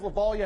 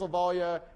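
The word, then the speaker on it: Lovaglia: By the way, his name is Lavallia, and on the first day of his big lecture class, he's like, Lavallia, my name is Lavallia. It's pronounced like, hopefully by the end of this class, I'll Lavallia.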